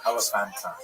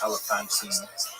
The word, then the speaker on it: Elephantine: the interesting Jewish community of Elephantine, sometimes pronounced Elephantine. I'm not clear exactly on what's supposed to be the preferred pronunciation.